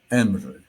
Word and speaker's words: mr: La palabra egipcia expresada en ese jeroglífico a la derecha era Emre, es decir, se pronunciaba la M y la R, sin vocal.